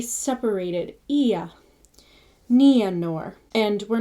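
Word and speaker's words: Nienor: as English peace, but with both the vowels, I and an E, sounded and run together. So it's not E, it's Ia, or Nianor. Not Ninor, but it's Nia.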